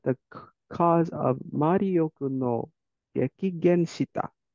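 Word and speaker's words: 激減: Kehen or Tehen. You know what this means, but you're not pronouncing it right. It's a gekigen.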